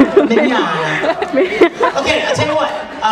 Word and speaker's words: Mignogna: My last name is pronounced Mignogna, like tomorrow in Spanish. Mignogna.